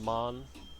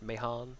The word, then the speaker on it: Mahan: Can't remember exactly how this one goes, but I'm just telling the Mon, which I'm told is the correct way to pronounce that boat. Not Mahan, not Mahan, just Mon.